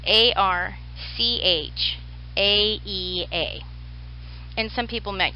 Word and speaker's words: archaea: I say it archaea because that's how I was taught.